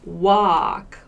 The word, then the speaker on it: walk: work walk21 to walk your vowel sound is very different wah-wah it's at all a like wah sound and we don't really pronounce this l walk we don't say what we say walk walk so focus on